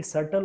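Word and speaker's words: subtle: एंड य ू very सटल also सटल का मतलब क्या हो जाता है एस यू बी टी एल ई सटल anybody बताओ ट meaning of सटल B silent य रहेगा बी इ साइलेंट सटल का मतलब क्या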